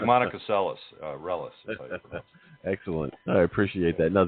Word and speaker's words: Reles: My uh last name is Relis. R E L E S. Yeah. like you were saying it correct like Yeah, that's right. It's like Monica Celis Relis.